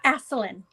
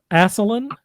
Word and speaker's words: Ascelin: So, did I mispronounce anything there? Uh, Aselin. Aselin.